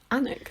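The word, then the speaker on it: Alnwick: it not anik a-n-r like anik that's really strange it's spelt it's a-l-n w-i-c right like like let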